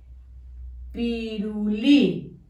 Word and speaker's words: pirulí: Pi. Ru. Con rojo, pirulí, acento en la última I, pirulí, y hemos terminado.